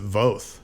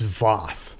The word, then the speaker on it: Voth: yeah, and even our name is everyone else pronounces it Voth, and he just out of like a fuck you to everyone's like it's Voth.